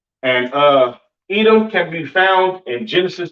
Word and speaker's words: Edom: Pronounced Adawam in the Hebrew, all right? Edom, Adawam. Excuse me.